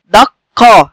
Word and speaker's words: دقة: طب بيتنطق ازاي؟ دقة، عندنا صوت قاف ساكنة وبعديها صوت قاف مفتوحة، زي كده اهو، صوت قاف ساكنة يليها صوت قاف مفتوحة، هكذا.